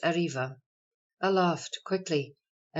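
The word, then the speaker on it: arriba: civil or criminal suits arba Spanish pronounced ariva Aloft quickly a m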